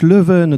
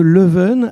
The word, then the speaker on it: Leuven: Donc Leuven, donc c'est la prononciation mal prononcée bien sûr en néerlandais de la ville de Louvain, pour ne pas la confondre avec Louvain-la-Neuve, qui est une ville nouvelle en Wallonie.